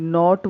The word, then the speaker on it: knit: KNOT नॉट word में भी के साइलेंट है. KNIT निट वर्ड में भी के साइलेंट है.